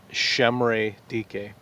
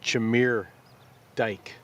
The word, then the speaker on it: Chimere Dike: the last 2 months learning how to pronounce Shemre Dike. That's a lot better than I did because that would not have been my guess. Because on paper, it would appear to be Chimere Dike.